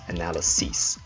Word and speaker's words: analyses: The singular form is pronounced analysis, but the plural form is analyses.